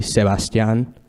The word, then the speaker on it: Sebastián: So I will pronounce my name properly, Sebastian.